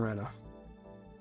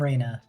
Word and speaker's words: Rena: My name is Madame Rena. It's R-E-N-A, in case my pronunciation fucked up. Madame Reyna.